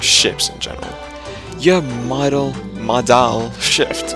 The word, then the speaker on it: Modal: You have Modal Shift. It's not pronounced model, is it? It's like Modal.